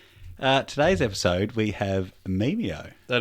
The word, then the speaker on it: Memeio: So, uh, today's episode we have Mimo. That is it. You pronounced it correctly as well.